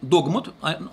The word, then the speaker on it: догмат: Вторая, на всякий случай, вот 1870 год, догмат, ударение на букву О, догмат, от слова догма, о непогрешимости, безошибочности Папы Римского.